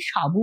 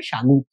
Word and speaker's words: সাগু: দেখো এখানে সাগু আছে, একটা জিনিস বলে রাখি, আমরা চলতি কথা যেটা সাবু বলে থাকি না, সেটাই কিন্তু সাগু। অ্যাকচুয়াল সঠিক উচ্চারণ হলো সাগু।